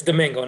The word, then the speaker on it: Domingo: It's Domingo, not Diego, just to, so that way, it's okay.